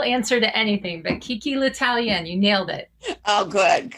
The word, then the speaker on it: L'Italien: and kiki did i come anywhere close to pronouncing that right you did you did i mean i'll answer to anything but kiki latalian you nailed it oh good good i meant